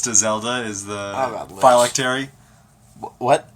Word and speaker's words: phylactery: Phylactery? Is that how you say it? I've Yes. always said it phylactery. When have you ever said it, though? I play Magic. Phylactery. Because that's how they say it in Dragon Age. Huh. Yeah. Phylactery sounds much better than phylactery.